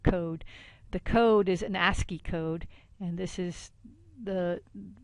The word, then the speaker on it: ASCII: what we call the ASCII code that's pronounced ascii ascii for american standard for